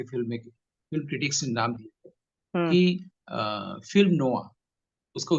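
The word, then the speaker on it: noir: film critics नाम film नो उसका उच्चारण है एन आई आर अभी भी बहुत सारे भारती को नोयर ही बोलते हैं उसका उच्चारण है फिल्म नो है वो हली फिल्म है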